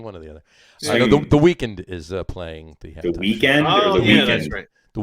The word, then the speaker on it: The Weeknd: The Weeknd is playing the halftime.